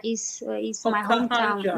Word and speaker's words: Okahanja: Oh, Okahanja is my hometown. Okahanja. Not That's it, yeah, Okahanja.